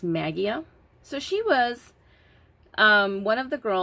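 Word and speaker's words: Maggia: I believe her last name is spelled Magia, or it's pronounced Magia.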